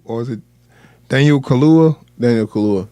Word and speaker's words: Daniel Kaluuya: Daniel Kaluuya.